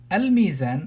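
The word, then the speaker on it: الميزان: Al-mizan, I have to pronounce the lam in here.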